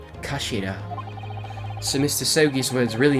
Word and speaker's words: Kashira: It's written as head in Japanese, but it's pronounced as Kashira, I believe. Kashira.